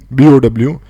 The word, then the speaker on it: bow: तो अगर वो वाला बो है, BOW, तो आपका वहाँ पर प्रोनाउंसिएशन क्या होना चाहिए? मैं सुनाता हूँ। अगर वो बो एरो वाली बात हो रही है तो Bow. वहां पर आप क्या बोलोगे? बो। ठीक है, अगर एरो एम